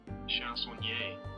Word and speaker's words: chansonnier: Chansonnier. Chansonnier. There we go. I'm gonna channel my inner Frenchie. Chansonnier.